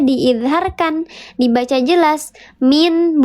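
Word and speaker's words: مِن: Min, bukan mil, tapi min.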